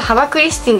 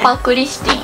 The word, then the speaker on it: ハパクリスティン: のやつですねこれ読み方ハバクリスティンじゃないんだよねハパクリスティンハパクリスティンですっていろんなカラーがあっ